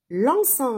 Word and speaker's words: lançons: Lançons le ballon.